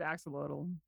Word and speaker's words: axolotl: Sally, what is the proper I pronunciation of always it? did axolotl.